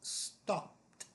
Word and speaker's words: stopped: And our last word is stopped. Stopped. It ends in a P. The dominant sound is the vowel, which is made with your throat. So, that is the t sound, as in t-shirt.